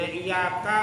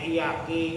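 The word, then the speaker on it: إياك: pendek bacanya panjang ya kan yang bacanya kudun iyaka bacanya iyaki kan secara makna itu bahaya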